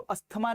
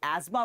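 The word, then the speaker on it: asthma: इसको अस्थमा नहीं एस्मा पढ़ते हैं, इसको डेंगू नहीं डेंगी पढ़ते हैं।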